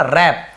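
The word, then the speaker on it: wrap: जाता था, है ना, रैप, डब्ल्यू साइलेंट होता है, रैप यानी होता है लपेटना, है ना, लपेटने में।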